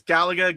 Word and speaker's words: Galaga: Galaga guy says, "I was talking to a 20some year old who didn't know how to pronounce Galaga." Well, there's Galaga, Galaga.